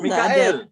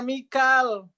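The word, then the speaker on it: ميكال: Kan Mikail. Mikail. Ya, itu riwayat siapa berarti? PR khusus buat Ustazah yang mengatakan Mikail ya. Cari keimanan kita ternyata riwayat siapa ya. Kalau riwayat Haus bacanya Mikal.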